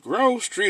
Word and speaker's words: Grove Street: Is it Grove Street or Groove Street? Grove is spelled G-R-O-V-E. Street. Groove would be G-R with two. Grove, let's get it.